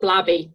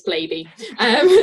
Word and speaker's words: Blaby: Everyone thinks it's pronounced Blabby, but it's Blaby.